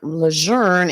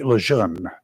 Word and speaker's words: Lejeune: The correct pronunciation is Jean A. Lejeune. It's not Lejeune or Lejeune.